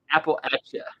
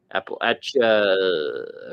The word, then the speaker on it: Appalachia: Tennessee Captain Irish guy your pronunciation is correct Apple at you Appalachia Apple Action Appalachia okay there we go appreciate